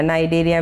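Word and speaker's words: Cnidaria: centre एटा और नाइजीरिया नाइजीरिया में सी silent है मगर स्पेलिंग में सीख जाता है तो सिस्टम्स फॉर सिलेंडर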